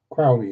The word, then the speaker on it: Crowley: Um then I will get on to Alistister Crowley Crowley whichever way you want to put pronounce it. Crowley is correct but um and that